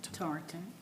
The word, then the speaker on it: Tarleton: How you pronounce it? Tarleton.